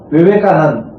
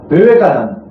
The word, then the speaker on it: Vivekananda: In the Sanskrit word like suppose Vivekananda. So Vivekananda that last a they do not pronounce it fully. Vivekananda.